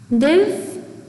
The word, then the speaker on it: live: I want to live forever.